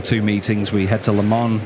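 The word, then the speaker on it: Le Mans: We head to Lemon in a week's time or Lemon if you say it correctly and then Harama at the end of the season which is in just three weeks.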